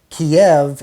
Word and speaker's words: Kiev: And he said, Kiev is the Russian pronunciation, Kyiv is the Ukrainian pronunciation.